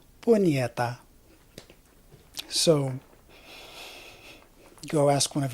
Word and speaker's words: Punyeta: It's pronounced, for the non-Filipinos out there, it's pronounced the same way as the Spanish version, which is, say it with me, Punyeta.